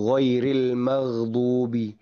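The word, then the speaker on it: غَيْرِ الْمَغْضُوبِ: Terutama salah satu contohnya adalah di ayat al-Fatihah itu ghairil magdubi ghairil magdubi magdubi magh magh gitu ya.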